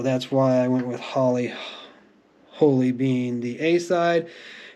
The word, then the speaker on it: Holly Holy: holy that's a little had to make sure I got that pronounced right not holy Holly or but Holly holy H don't know the